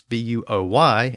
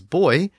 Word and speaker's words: buoy: it's called soccer and in some places English speakers pronounce buo y as boy and in other places it's buoy but in all of